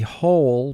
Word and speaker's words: whole: ate the whole pie whole three sounds oh oh whole mark the word whole now this word can also be spelled h-o-l-e and when it's spelled h-o-l-e it refers to a hole in the ground whereas w-h-o-l-e refers to an entirety such as the entire pie the whole pie affection affection we have